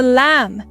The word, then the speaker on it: lamb: A baby sheep is called a lamb, but we don't say the B sound. It's like a secret silent letter.